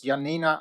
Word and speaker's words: Janina: And don't worry, I had to call my dad before this meeting here tonight to learn how to pronounce the name. It's Janina Ahabush. Oh, Janina Ahabush well.